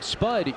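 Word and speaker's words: Spudd: Or excuse me, Spud Eugene. Just had to get that in there. Spud with a silent D at the end. 2 Ds.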